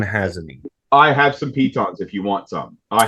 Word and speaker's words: piton: Piton is pronounced piton.